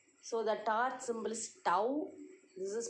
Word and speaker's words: tau: So you have to pronounce as tau, and then tau equal to F into D.